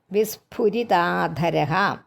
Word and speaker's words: വിസ്ഫുരിതാധര: വിസ്ഫു, വിസ്ഫുരിതാധര. അകത്തോട്ട് ചുണ്ട് വച്ചല്ല, ഭ എന്ന് പറയുന്ന ഭരണിയുടെ അല്ല, ഭ. അതായത് ചുണ്ടിൻ്റെ രണ്ട് ചുണ്ടുകളും ഓഷ്ടം ഇങ്ങനെ ചുണ്ട് പിടിച്ചുകൊണ്ട് ഫു എന്ന് പറയുന്ന ആ ഫ എന്നുള്ള ഉച്ചാരണം നമുക്ക് വേണ്ട കേട്ടോ.